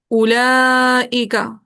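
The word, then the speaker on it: أولئك: Lesson में हमने पढ़ा उला का पढ़ा जी उला का इसमें ना ये वाऊ लिखा हुआ होता है लेकिन ये साइलेंट होता है। लिखा हुआ होता है लेकिन पढ़ा नहीं जाता।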